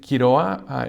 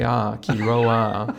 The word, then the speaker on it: Quiroa: So David Quiroa, it's spelled Quiroa. And do you roll the R? Well, you don't have to. I don't, but you can if you want.